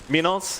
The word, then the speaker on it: Minos: Got MNZ, or rather Minos, and MJZ around on the DP and PA. And John, I am pronouncing that correctly, am I not? Minos? Absolutely are, Mike. Very clean.